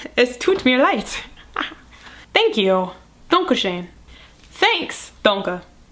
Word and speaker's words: Es tut mir leid: There's a bug on my light. Which rhymes with es tut mir leid.